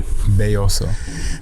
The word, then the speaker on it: Belloso: cool how do you say your last name boso boso yeah is that like what does that